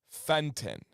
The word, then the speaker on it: Fenton: And it should be Fenton. But that's not what anyone in the state of Michigan says. They say Fenton. It's Fenton. Fenton. One syllable.